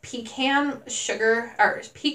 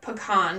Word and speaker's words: pecan: Then I have pecan pie sugar cookies, or pecan, depending on where you're from.